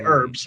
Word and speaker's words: herbs: Do you pronounce the H in herbs, or do you say herbs? Just for you, Hungry, I'll say whatever pisses you off. How's that? But seriously, I say herbs. The H is silent, I will say.